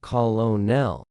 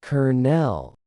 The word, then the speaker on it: colonel: The word colonel, as in a military rank, looks like it should be pronounced colonel, but it is actually pronounced colonel. Yes, exactly like the word kernel, as in a kernel of corn. English borrowed this word from French and Italian centuries ago, and the pronunciation changed completely while the spelling stayed the same.